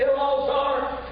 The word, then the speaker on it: Eleazar: If the Lord would help me for just a little while, I want to preach on call him Eleazar. The pronunciation is Elazar.